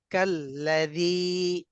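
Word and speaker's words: كالذي: দাল ইয়াজের, জি জি কাল্লাযী। এখানে কি টান কাল হবে? ইয়া এখানে যে আমাদের এক আলিফ টান হবে। হ্যাঁ মাশাআল্লাহ, এখানে এক আলিফ টেনে পড়তে হবে, কাল্লাযী।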